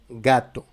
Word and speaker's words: gato: Si nous avons la lettre G avec A, O, U, la prononciation c'est G. Par exemple, dans les mots gato, gato.